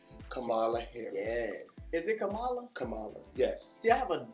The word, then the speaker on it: Kamala: and vice president-elect kamala harris is it kamala kamala yes see i have a daughter named spelled